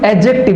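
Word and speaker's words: adjective: एडजेक्टिव। यहाँ पे D silent होता है, ठीक है। बहुत सारे बच्चे एडजेक्टिव बोलते हैं तो वो गलत हुआ, एडजेक्टिव।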